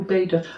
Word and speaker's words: Úbeda: Did I pronounce that right? Úbeda or Úbeda?